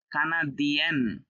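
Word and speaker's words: canadien: নিয়ম অনুযায়ী এটা যদি ইয়া হয়, এটা ইয়ান হওয়ার কথা ছিল, কিন্তু এটা হবে ইয়েন, ই এন, ইয়েন। এটা ইয়া, এটা ইয়েন। ইয়ানকে অবশ্যই ভুল হবে, কারণ উচ্চারণটাই তো এখানে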